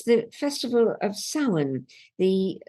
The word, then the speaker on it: Samhain: And it's the festival of Samhain, the Samhain as it's spelt, Samhain as it's pronounced, the end of summer, with folk festivals taking place all around the country.